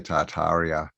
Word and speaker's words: Tartaria: yeah with tataria tataria how do you say it do you say the r in it yeah well uh i'm australian so i say tartaria um but okay in england